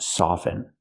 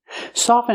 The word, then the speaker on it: soften: first let's talk about soften soften is a verb it means to make something soft and with the word soft we pronounce the T soft but with soften we do not pronounce the T never pronounce the T